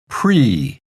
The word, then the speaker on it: Prix: Okay, and Karaage we'll talk about in the lesson, but Grand Prix, even though this ends with IX, it's a French word, and so it's pronounced Prix, Grand Prix.Grand Prix?